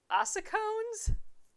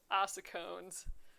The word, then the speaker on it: ossicones: Ossicones? Do we think that C is like a K sound or a S sound?